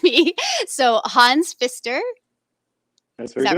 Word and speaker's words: Pfister: it right and you correct me so hans fister is that right all right okay good good